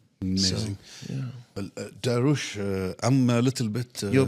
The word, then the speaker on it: Dariush: Nothing to do with Darwish. Dariush. Nothing. And my surname is. It's like going up, right? okay. But not spelled the same as Arabia. It's Yes, with a it's- sot. So I said. I can say. But you can't say Dariush. Dariush. Yes, perfect.